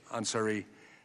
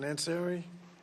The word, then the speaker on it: Ansari: Ranking Member Scott, you're recognized to welcome Representative Ansari at this time. Let me check the pronunciation. Ansari? Close, Ansari. Ansari, okay.